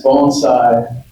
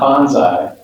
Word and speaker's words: bonsai: Um, at the at the lowest sense, bonesai is pronounced bone sai, not bonsai.